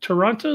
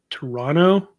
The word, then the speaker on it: Toronto: Pronounce the second T. Toronto. Toronto.